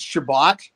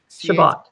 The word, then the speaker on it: Chebot: times the wrong way it's Shabbat shabot as in uh cabit trail with an H got it I love